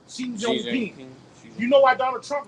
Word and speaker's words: Xi Jinping: Not King Jong. That's how you say it. Xi Jinping. Xi Jinping.